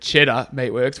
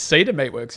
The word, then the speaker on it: Cedar Meatworks: Yeah, in our production meeting, James said Cheddar Meatworks, which was obviously wrong. But I still think you said it wrong. I think it's Cedar Meatworks, isn't it?